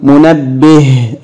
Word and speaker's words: منبه: هي تاء مربوطه طيب كلمه منبه هنطقها ايضا مرتين بالتشكيل منبه في نطقتها طب بالسكون منبه اتنطقت ايضا هاء اذا اتنطقت هاء في الحالتين تكتب هاء مربوطه الصوره التاليه صوره بيت